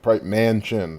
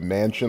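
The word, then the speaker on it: Manchin: Mansion guys I see I didn't know that's who you pronounced his name well man chin I guess it maybe because I never read it out but Mansion like a mansion you live in it could be also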